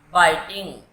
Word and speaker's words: biting: बाइटिंग, BITING, बाइटिंग, इसे बिटिंग नहीं बोलेंगे बच्चों, बाइट की स्पेलिंग होती है BITE, ई हट के ING लगेगा तो कोई बच्चे इसे बिटिंग बोलते हैं। ये वर्ड है बाइटिंग, काटना।